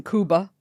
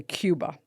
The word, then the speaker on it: Cuba: about little boy Oscar born in Kuba and that's also the correct way to say it correct thank you why do people say Cuba the same reason say nunz it's just easier if a white woman